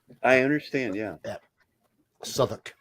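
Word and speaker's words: Southwark: UK if it was anywhere else I'd say southwalk yeah it's pronounced s I understand yeah yeah suoc it's a place in London okay well they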